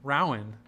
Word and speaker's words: Rowan: I thought you were rhyming it with toe. Rowan. There we go. Got it. Like the way the English pronounce Rowan.